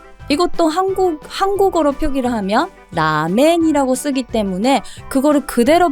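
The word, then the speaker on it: ラーメン: 한국 한국어로 표기를 하면 라멘이 쓰기 때문에 그거를 그대로 발음을 하시는데요 라멘 이것도 가다 가나에서이 짝대기 표시가 장음이아요 그러면 라행 길게 해주셔야 돼요 그리고 동이라는 소고기 덮밥이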